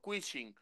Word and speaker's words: Quishing: q y el fishing que es el quing bien pronunciado la ch ahí como los gringos quing para conversar de eso